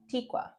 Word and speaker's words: Tikwa: It looks like Atika. hopped on. If I said your name wrong, I am so sorry. I am so sorry. Tikwa? Tikwa. I'm sorry if I said it wrong. You said it right.